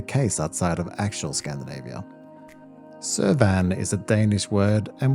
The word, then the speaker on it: Søværn: Søværn is a Danish word, and we use the same term as Sweden, just spelt and pronounced slightly differently.